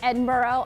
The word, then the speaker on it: Edinburgh: from this university, and I was told I pronounced it wrong. Yeah, it's Edinburgh. I actually watched The Queen, so I knew that. Okay, really? Do the Pittsburgh Steelers play in Pittsburgh? Okay, Edinburgh, though, Jimmy, is Scottish.